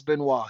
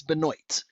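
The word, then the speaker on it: Benoit: I believe it who that my dad will never call him Chris Benois. He calls him Chris Benoy. He's like I call him Chris Benoy. I won't say his name right cuz because of you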